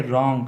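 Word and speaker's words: wrong: कि डब्लू के साथ डब्लू के बाद अगर आ रहा था हो है तो डब्लू को साइलेंट कर गया था है ठीक है जैसे इसको बोलेंगे रॉन्ग अच्छा ठीक है इसको बोलेंगे रिंग रिस्ट राइट टू यहां पर डब्लू का या साइलेंट हो जाएगा डब्लू के बाद यह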